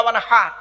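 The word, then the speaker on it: وانحر: ইন্না আতাইনা কাল কাউসার ফাসাল্লি লিরাব্বিকা ওয়ানহার, এ গলার ভেতর থেকে এটা উচ্চারণ করতে হবে, ফাসাল্লি লিরাব্বিকা ওয়ানহার। এর মানে হচ্ছে নবী তুমি তোমার রবের জন্য নামাজ পড়ো, ওয়ানহার এবং কুরবানি করো।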